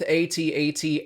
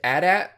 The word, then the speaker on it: AT-AT: Also, according to Lucasfilm, both AT-AT and AT-AT are correct pronunciations for the vehicle.